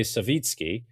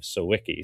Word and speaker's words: Sawicki: And for the first time, Father Jonathan, who I would say Savvitzki uh but as uh as I understood that you go by the anglicized name of Siki.